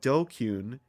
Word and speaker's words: DQN: So this DQN is, as it says, net slang, pronounced dokkun, used to refer to people who are stupid, antisocial, or delinquents.